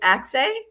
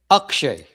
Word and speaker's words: Axay: Is it Axay? Akshay. Akshay.